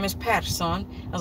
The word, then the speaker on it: Persson: And Sweden, it's like calling somebody like Smith, but they pronounce it Persson, which is the son of Per.